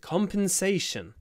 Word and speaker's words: compensation: compensate for my loss so compens ation on the a compensation compensate on the cup